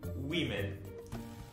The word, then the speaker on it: women: E já mulher vai mudar bastante a pronúncia. E a escrita é só mudar um pouquinho de woman para women. Aí a gente vai ter que trocar o A por E também. Então, woman, women.